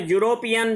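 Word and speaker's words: European: तो यहाँ पर यूरोपियन, जैसा कि मैंने बताया था, यहाँ पर ये स्वर से तो प्रारंभ हो रहा है, लेकिन इसका उच्चारण य से हो रहा है, यूरोपियन।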